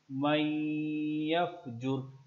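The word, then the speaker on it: من يفجر: व नखलअु व नतरुकु मन यफजुर। यहाँ पे ये नून जो है, ये वाला ये नून साइलेंट रहेगा, मीम को डायरेक्ट यहाँ से मिलाएंगे।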